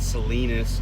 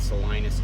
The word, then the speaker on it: Salinas: and by the way i said that right salinas not salinas i i um i